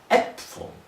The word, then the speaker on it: Äpfel: Let's do it in plural, which I figured out that it's actually Äpfel. So the double dot on top of the A actually changes the pronunciation from Apfel to Äpfel, or Apfel.